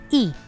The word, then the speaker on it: y: The formula goes like, we first add the word diez to the number, followed by the word y, but this y is pronounced as e.